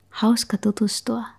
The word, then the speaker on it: hauska tutustua: Hey, hauska tutustua. Hey, hauska tutustua. That one's a tongue twister. Hauska tutustua. Tutustua. Perfect. That's the two part that's hard.